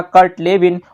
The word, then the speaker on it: Kurt Lewin: अगर कुर्ट लेविन आपसे पूछा जाए तो भी इन्हीं का ही नाम है, हालांकि इनका इंग्लिश में नाम है कर्ट लेविन। ठीक, तो हो सकता है कर्ट को कर्ट की स्पेलिंग से पूछे जाए या फिर कुर्ट लेविन के नाम से। तो ध्यान रखेंगे, क्षेत्रवादी सिद्धांत दिया गया है कर्ट लेविन, या फिर इनको हम कुर्ट लेविन भी कहते हैं।